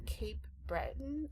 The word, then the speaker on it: Cape Breton: So I saw that you're from Cape Breton. Is that how you pronounce it?